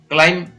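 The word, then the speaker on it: climb: Next है, CL साथ में हो तो इसको पढ़ेंगे क्ल और EI, क्लाई, म, क्लाइम, क्लाइम, इस तरीके से। ब को, म को थोड़ा खींच लेते हैं और ब को नहीं बोलते हैं।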